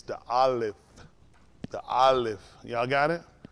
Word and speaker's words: aleph: he's exactly right olive i want y'all saying allah you're not saying right it's the aleph y'all got it it's the olive that's it although it's spelled a